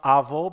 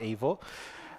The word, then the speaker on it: Avo: speaking people out there it's pronounced AO but from avocado not AO um it was called